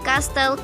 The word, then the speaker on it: castle: Notice: t is silent in Castle Christmas.